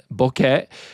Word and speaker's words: bokeh: The E sound is pronounced bokeh, which is Japanese word, which means blurry or hazy.